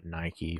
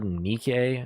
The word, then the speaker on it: Nike: All right, we now have Nike, or Nike, I think is how you're technically supposed to pronounce it, but who cares?